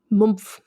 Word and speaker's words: Mumpf: She was born on the road, basically literally in Switzerland, in the Swiss town of Mumpf, which is spelled Mumpf. Spelled like it sounds. Mumpf.